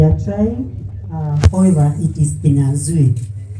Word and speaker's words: Kinyanzui: That they are trying, however, it is kinyanzui. You have to tighten where your tongue to be able to pronounce. But if you find it difficulty, I'll appreciate if you call me kinyanzui.